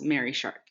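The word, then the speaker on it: Marie Sharp's: m-a-r-i-e excuse me but it took me a while for me to learn that it's pronounced mary shark so if you ever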